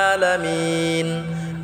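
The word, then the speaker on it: العالمين: আলামিন, আটা গলায় চাপ দিয়ে এক আলিফ টেনে পড়ব।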